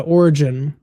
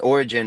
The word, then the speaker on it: Origen: So, uh Origen is um the way you're supposed to say it, if I remember correctly.